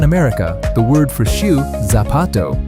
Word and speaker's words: zapato: In Latin America, the word for shoe, zapato, sounds just like it starts with an s, sapato. But in a lot of Spain, they use a th sound, so it comes out like thapato.